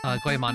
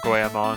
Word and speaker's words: Goemon: This is the part of the stream 2.5 hours in where I point out that you keep pronouncing it Goemon as is done in the Part 2 dub.